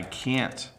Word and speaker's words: can't: When my throat is sore, I can't talk for a long time. So it's very slight. When we speak fast as native English speakers, can and can't can start to sound very similar.